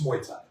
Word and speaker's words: Muay Thai: It's Muay Thai.